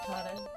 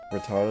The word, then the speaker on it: Rattata: Rattata. Rattata, because Ash says Rattata.